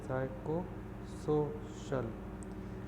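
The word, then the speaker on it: psychosocial: Listen to pronunciation S वाई साइको, ठीक है, साइकोसोशल.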